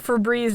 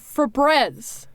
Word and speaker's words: Febreze: Did you know that Febreze is not spelled the way that you thought it was?